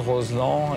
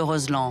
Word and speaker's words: Roselend: » Au bout de cette vallée, l’un des barrages les plus spectaculaires du massif alpin : le Barrage de Roselend (prononcer Roselan) Il a été édifié à la fin des années 50 sur le site d’un ancien village d’alpage.